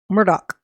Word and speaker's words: Murdaugh: have Mr Alec Myrtle Murdoch they say it Murdoch spelled like Myrtle so I what I